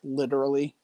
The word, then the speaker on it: literally: specifically, it's just like you don't really pronounce T's in words very much. They're more like D's. So if I say like literally, you're not going to hear the T so much. You hear the D instead of a T.